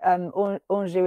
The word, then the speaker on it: Anjou: So yeah, no, like Anjou is my middle name. And it rhymes with reviews.